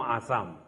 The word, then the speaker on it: Assam: Such a blessing, Shatayushu Bhava, you should take from the people from Assam. In Assamese language, Sa is pronounced as Ha. We call it Assam, but it is actually Ahom.